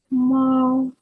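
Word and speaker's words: 猫: на каліграфії кіт ма мау мау перший тон тобто перший тон рі він ріно вимовляється мау коли Ви вчитесь ви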